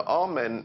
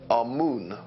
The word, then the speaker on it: Amun: Now, Amen is the pronunciation that the Hebrews give it, and some scholars agree to use that pronunciation. Amun is the pronunciation given to it by one of the old European scholars, Plutarch. In the language of Kemet, the word for hidden is Imen, or Amun is the way that we put it in English.